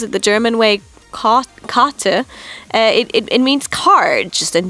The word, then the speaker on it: Karte: If you pronounce it the German way, kate, it means card just in German, but in Japanese, the German word karate, so kate, actually means."